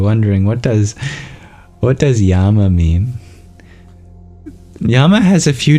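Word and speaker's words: yaṃ: amplifies the meaning but if you drop the a at the end and you make it an anusa rather than a Makara then yam is the be Mantra the seed syllable for the heart since all chakras have their own and as a be for the heart yam means actually this would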